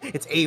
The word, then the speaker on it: Ave: The name Ave rhymes with save, so it's Ave the Gamer.